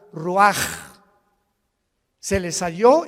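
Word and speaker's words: רוח: Roach así como suena se pronuncia la c en hebreo como J ruaj se le salló y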